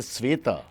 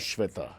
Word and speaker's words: Sveta: Oh, it's a Sveta Sveta. and not Shweta.